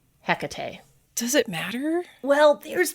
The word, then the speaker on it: Hecate: or a cat tea the H being silent or not but still putting the emphasis on that middle syllable Hecate it just seemed to